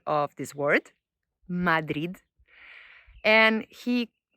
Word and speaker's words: Madrid: Madrid. So that is the correct pronunciation of this word, Madrid. And he said that he has heard three other pronunciations. Madrid, as if the word finished by a Z instead of a D.